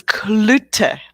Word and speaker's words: Cloete: we talk almost every day and i still mispronounce her last name it's clutter i'll give you a clue okay yeah i'm